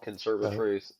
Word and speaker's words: Conservatruth: Sounds just like it is spelled, Conservatruth, and they are a